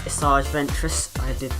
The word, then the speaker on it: Asajj Ventress: take I had to check the pronunciation the pronunciation but the character is asajj ventress I looked it up eventually and if you